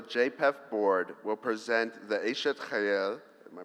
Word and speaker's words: Eshet Chayil: During dinner, a member of the JPEF board will present the Eshet Chayil, am I pronouncing that right?